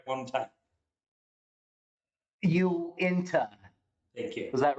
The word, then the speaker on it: Uinta: think us having an office space here at Owinta Fireplace, and I know I say that wrong. Yeah, completely wrong. Can you say it right just right now? Just practice it right one time. Uinta.